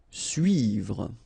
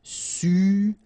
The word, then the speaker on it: suivre: Okay, so this can be quite tricky for the English-speaking persons, because normally this U sound is quite tricky to make at the beginning. After that, you can see that, well, you can make it, but then try to focus on it. So it's suivre, suivre, suivre.